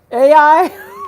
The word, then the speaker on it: Ai: to say Zion It's kind of like than AI. Zion. AI, like the city that's spelled AI in the Bible.